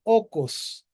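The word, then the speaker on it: οἶκος: En una iglesia en la casa y en una casa de una cultura griega, o el famoso okos, ¿verdad? O como se escribe, oikos.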